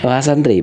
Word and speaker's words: mahasantri: adalah mahantri betul begitu bacanya mahantri mahantri bukan Mahad ya bukan sama mahasiswa begitu ya Iya betul jadi e e mahanya santri gitu ya Iya benar mahasantri beliau adalah eh salah